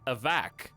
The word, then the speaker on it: Avic: Because I thought it rhymed with havoc. Like Avic rhymes with havoc. But then he started saying Avac, and then you were like, yeah, that's right.